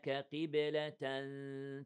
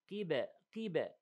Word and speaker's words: قبلة: Then فلنولينك قبلة ترضاها. Now فلنولينك. We have 2 seconds two seconds حرفنا مشدد. Then قيبة. Listen. قي. Right? Not قب. No. So don't make it, you know, heavy all the way.